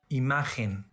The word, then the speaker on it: imagen: When letter G is followed by E or I, it's pronounced as a strong English H sound or German Bach. Imagen, general, elegir, página.